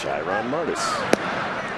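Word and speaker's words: Shairon Martis: asked every 5 days how do you pronounce the starting pitcher's name today Dad and he'll say shyon Martis Chiron Martis it's shyon Martis that's a good pitch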